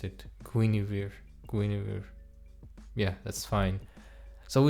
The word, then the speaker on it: Guinevere: And yes, I finally learned how to pronounce it. Guinir Guinir.